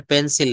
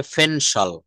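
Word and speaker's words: pencil: শব্দের শুরুতে পি থাকলে, শব্দের শুরুতে পি থাকলে সেটা কিন্তু পি না হয়ে প না হয়ে ফ হবে। ফ এর মতো উচ্চারণ করতে হবে। নিচের শব্দগুলো সঠিকভাবে চর্চা করার মাধ্যমে পি এর উচ্চারণ শুদ্ধভাবে করতে হবে। যেমন এটা পেন্সিল না, এটা হবে ফেনসল। আমরা অনেক সময় বলি যে please give me এ পেন্সিল, আমাকে একটা পেন্সিল দিন, কিন্তু এটা বলতে হবে ফেনসল।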